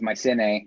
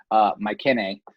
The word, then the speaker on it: Mycenae: The American translation is Mycenae, but in Greek it's actually Mycenae.